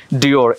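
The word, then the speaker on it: Dior: Burberry Burberry D আই ও আর কি হয় ডিওর ডিওর এফ ই এন ডি I Fendi ফ্রেন্ডি জি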